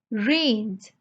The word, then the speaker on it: reigned: n e d and here please note the g is silent we do not pronounce g so we say range range means ruled over